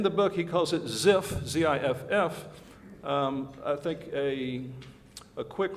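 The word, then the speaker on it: Zipf: Ziff's principle actually got this concept from a book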